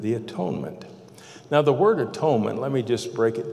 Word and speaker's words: atonement: atonement now the word atonement let me just break it down three syllables you know you could say at one meant if we change